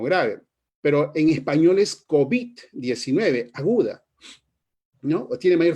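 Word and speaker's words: COVID: nombre de esta enfermedad y nosotros hemos terminado pronunciando de esa manera y decimos cobit 19 como una palabra grave la pronunciación la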